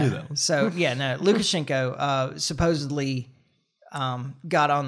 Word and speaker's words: Lukashenko: exiled to Belarus okay um gosh is it look schenko Lucha yeah yeah really bad at pronouncing names but I do that so yeah no lukashenko uh supposedly um got on the phone with